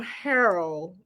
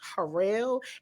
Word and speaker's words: Harrell: I feel like I'm gonna call him Harold, but I know somebody with the last name is pronounced Harrell, and so that's why I'm saying it that way.